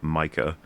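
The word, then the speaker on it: Maekar: mentions Ma, he the the way he pronounces it is um Micah, which is apparently another very common way of saying his name in other like examples.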